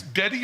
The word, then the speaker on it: Dedi: It's Dedi or Didi? D-E-D-I? Didi, yeah. Didi, is that the way it's pronounced?